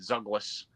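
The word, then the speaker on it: Zhalgas: Zaglas. Okay. Kind of like Douglas, but with a Z. Yeah. All right. That's a good way to put it. Zuglas.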